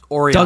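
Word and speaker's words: Orellana: It's Oriana. Douglas Oriana.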